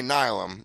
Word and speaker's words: Nihilum: I think that's Nihilum. Okay, Nihilum. Yeah, let's call it that. I think you're right. Like nihilist.